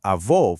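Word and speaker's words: avô: Now, avó, for grandfather, is pronounced avó, utilizing an open O sound, sounding much more like aw.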